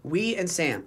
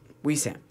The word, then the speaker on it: Wesam: and he's like what we Sam how do you say it we and Sam oh let's go where's